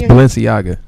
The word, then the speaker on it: Balenciaga: it's pronounced what? You sound like you're German for a minute. I can't see. It's Balenciaga.